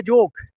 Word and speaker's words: যোগ: ইয়োগাটা আসলে যোগ। এটা হিন্দিতে উচ্চারণ হয় ইয়োগা।